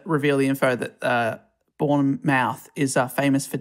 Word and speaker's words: Bournemouth: divorced following the war i think english people will be annoyed by that pronounce it's bournemouth would we'll just get we'll get tweets if we don't yeah thank you for born mouth one mouth born mouth yeah that sounds better that sounds better i'm